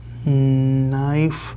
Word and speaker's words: knife: Rosa watches the lightning movements, tries to make her That K is silent. knife Yes.